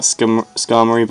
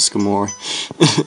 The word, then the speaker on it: Skarmory: scar I don't know I think it's about Skarmory but I like to pronounce it skimore anyway um pencil holding